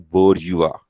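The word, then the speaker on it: bourgeois: According to Karl Marx, जो upper class है उसको वो कहते हैं बोर्जुआ। स्पेलिंग्स उसके कुछ जो भी हैं, लेकिन प्रोनाउंसिएशन उसका है बोर्जुआ।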